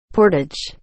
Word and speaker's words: portage: Portage. It's with a long A.